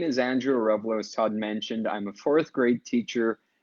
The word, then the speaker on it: Arevalo: I am so thrilled this week to have my guest, Andrew Arevalo.